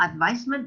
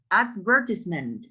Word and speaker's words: advertisement: No, advisement, no. Advertisement, advertisement. Eso. Ah, okay. But get it, pronounce advertisement, advertisement.